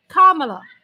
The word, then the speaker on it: Kamala: First, you say comma like a comma in a sentence. Kamala. Then you say la like la la la la la.